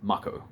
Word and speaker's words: Mako: to go off of no one knew it was pronounced Marco obviously it makes sense in Katakana or Japanese Mako if you wanted us to call it Marco you sort of spelled it differently m-a-h-k-o that says Marco m-a-k-o says Mako that's how English works